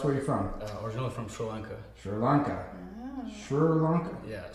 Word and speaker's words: Sri Lanka: That That's the way it's pronounced. Sri Lanka.